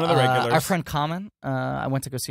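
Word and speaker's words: Kamen: My Bulgarian friend Common Volkovsky. Yes. Former trivia. Yeah. His name is spelled K-A-M-E-N. Anytime I reference him, people think I'm friends with the rapper Common.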